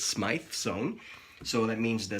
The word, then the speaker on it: Smythe: They are both Smythe sewn. It took me about 6 months to find out how to really pronounce it, but it's Smythe sewn.